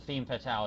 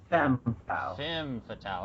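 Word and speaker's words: femme fatale: you can't trust or the theme fatal as I called uh am I pronouncing that right uh I'm just kind of putting myself out F fim fatal okay I've only said it wrong like twice so uh the fim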